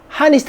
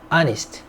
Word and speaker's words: honest: honest, 정직한, honest 하면 안 돼. H는 발음이 나지 않습니다. honest. collect, 수집하다.